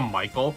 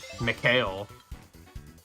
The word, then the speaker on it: Michael: Yeah, it's not Mikhail. I guess some people might actually pronounce it that way, but they'd probably spell it differently then too.